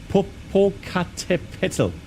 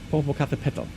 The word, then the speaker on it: Popocatépetl: How do you pronounce that? It's the Popocatépetl. Popocatépetl.